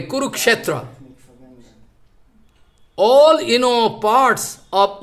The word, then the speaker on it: Kurukshetra: NASA, they research, they find Sanskrit pronunciation like, you know, Kurukshetra. If I speak this way, I am speaking wrong. Those Bengali people, they are speaking Kurukshetra. But those are Sanskrit knowing a Kurukshetra.